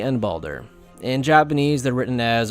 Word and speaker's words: Baldur: I'm sure I'm going to be butchering all these pronunciations anyway. Let's start with Xehanort's classmates. The first two are easy, Bragi and Baldur.